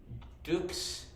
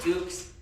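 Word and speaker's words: dux: yeah oh okay so Dukes is spelled d-u-x so d u s so we know Duke's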